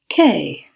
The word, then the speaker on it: quai: or rather tomato tomat i will be pronouncing it in the french way during this episode there